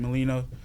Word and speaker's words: Melino: Melino. Gosh, okay. That's how you pronounce it, Melino.